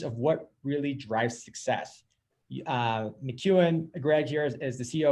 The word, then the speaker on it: McKeown: I have here with me Greg McKeown.